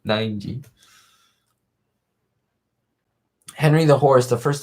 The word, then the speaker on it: Nineg: Some people think it's like Ning. It's like, nope, 9G.